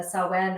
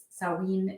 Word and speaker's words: Samhain: Yeah, so Halloween is basically rooted in Celtic traditions, and specifically the Samhain or Samhain. It's pronounced slightly differently in different dialects, but that is it was a time when the veil was said to be at its thinnest.